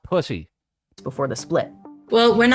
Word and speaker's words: Pusey: It's pronounced pussy.